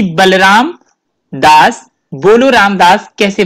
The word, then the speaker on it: Boloram: नाम के बारे में जानना चाहता हूँ कि बलराम दास बोलो राम दास कैसे बन गए?